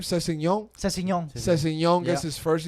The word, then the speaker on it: Sessegnon: Sessegnon.